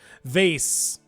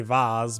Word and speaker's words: vase: through my beloved Hometown vase aluminum I know the British say aluminium and for for some reason people who were wrong say vase but yes vas um when uh um